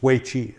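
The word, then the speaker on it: 危机: So it's Wei Qi is how they say it. And someone will write in and say, no, you said it wrong, which I probably did.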